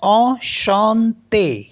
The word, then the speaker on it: enchanté: तो ये हो गया enchanté।